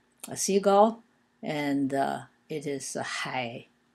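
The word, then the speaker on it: 海: Hai is pronounced in the third tone, and O is in the first tone, O.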